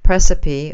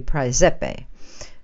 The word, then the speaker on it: Praesepe: There is a star cluster within the constellation of Cancer, the crab, which is called Precipi, or in proper Latin, I understand it would be Praesepe.